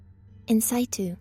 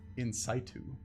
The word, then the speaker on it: in situ: i've encountered in in c2 how do you pronounce that nc2 in situ in situ in the original place um where was i